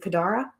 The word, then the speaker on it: Kadara: learn more about lando's daughter how do you pronounce her name is it kadara yeah kadara yes okay sometimes when i read